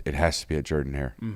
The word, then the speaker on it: Jordan-Hare: I'm not I don't think I'm the only person that would call it Jordan-Hare. It is spelled like Jordan, Mhm. but it's Jerdan.